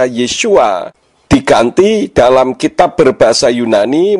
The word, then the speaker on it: Yeshua: Yodnya diganti menjadi iota, sehingga huruf Yod, Sin, Waw, Ayin yang seharusnya dibaca Yeshua diganti dalam kitab berbahasa Yunani menjadi iota, eta, sigma, omikron, upsilon.